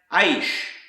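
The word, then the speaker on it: אֵשׁ: Another word pronounced aish is the Hebrew word for fire, eternal fire.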